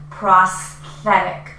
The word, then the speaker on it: prosthetic: So pro prosthetic. So you can really practice with the s the s and th combination pro. Here this t actually is pronounced like a d.